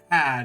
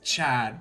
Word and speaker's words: Chad: It's just my name's not Tad. Yeah. It's Chad because the H is there.